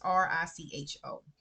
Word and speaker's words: Richo: I think his name is pronounced Richo or Rico. It's Richo.